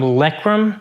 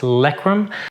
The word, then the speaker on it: LEREKAM: of really good reviews it's from lekram i hope i'm not pronouncing that wrong but it's likrum this is a two